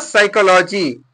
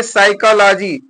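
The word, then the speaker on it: psychology: सोनिम सोनिम माने उपनाम यहां पर देखिए साइकोलॉजी तो पी से लिखा है पी साइकोलॉजी लिखा है तो पी के क्या हो गया साइलेंट हो गया यहां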